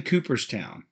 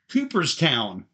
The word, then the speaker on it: Cooperstown: in coopertown Daryl's in Cooperstown Daryl's in Cooper's town you gotta say it right Daryl's d-a-r-r-y-l apostrophe s in Cooperstown not Cooper's Town Cooperstown Cooperstown gotta say the things right Baseball Hall of Fame